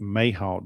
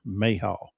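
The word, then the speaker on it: mayhaw: We made We like to make mayahhal jelly. A lot of you are probably not familiar with mayahhal jelly. And it's spelled just like it sound. M a y h a w. Mayhal.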